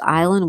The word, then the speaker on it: island: Sonos says funny thing is that when I was a kid, I pronounced island with the S. Didn't realize it was silent.